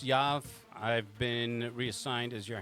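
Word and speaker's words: Yoav: Yeah, the O is silent, so it's Yav.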